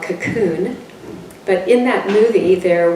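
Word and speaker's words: Kaqun: water that they have called cocoon water but it's spelled k-a-q-u-n water and it comes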